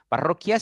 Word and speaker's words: parroquia: han confundido acá excelente parroquia tiene la unu no está sonando Así que se deshecha no pero ia está sonando parroquia quia suena Entonces sí tiene así